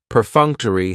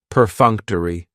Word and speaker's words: perfunctory: very cool word perfunctory perfunctory has four syllables and the stress is on that second syllable that funk per Funk toai that third syllable has the schah and it's going to end with that long e sound perfunctory perfunctory if something